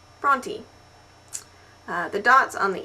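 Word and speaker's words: Brontë: not an um out it is a diasis and it just means that you should pronounce the E Bronte which leads me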